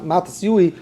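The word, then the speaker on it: מתתיהו: Yeshaya, schreibt man Yeshaya, it's really Yeshayui, so the Matisyu is really Matisyui.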